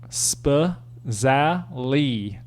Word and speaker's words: Spazali: other than sifu jack spazali that's parentheses pronounce spa za lee in parentheses senior i met